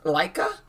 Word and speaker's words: LYKA: We believe it's pronounced Laika.